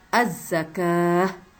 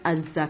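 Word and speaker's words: الزكاة: di atas Wow diletakkan jadi kita bacanya az-zakah bukan Azza kawah tersebut mereka baca al-quran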